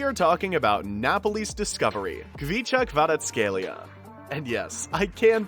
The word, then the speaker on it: Kvicha Kvaratskhelia: Well, we are talking about Napoli's discovery, Kvicha Kvaratskhelia. And yes, I can pronounce his name right.